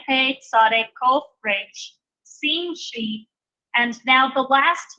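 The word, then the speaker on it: שׁין: And then this letter here, where it has the letter over the dot over the right arm, that is the Shin, pronounced like our sh sound.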